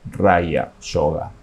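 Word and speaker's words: raja yoga: o yoga mental y en sánscrito se pronuncia raya yoga vamos a estudiar un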